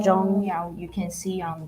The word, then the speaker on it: 钟: 钟, Zhong.